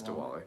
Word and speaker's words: Diwali: So what's your traditional like Diwali celebration? Am I pronouncing that right? Yeah, it's Diwali.